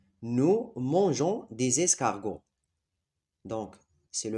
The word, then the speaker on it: mangeons: Donc, la terminaison c'est ONS et on a ajouté un E ici devant O, la lettre ou bien la voyelle O, pour prononcer mangeons.